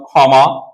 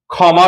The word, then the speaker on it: ক্ষমা: থাকে তাহলে কয়ম সখী যদি শব্দের প্রথমে থাকে তাহলে উচ্চারণটা হবে খ এর মত খ এর মত যেমন আমি দুটি উদাহরণ দিতে পারি যেমন আমি লিখলাম ক্ষমা অথবা লিখলাম ক্ষয় সেই ক্ষেত্রে ক্ষমা শব্দটার উচ্চারণ তাহলে কি হবে?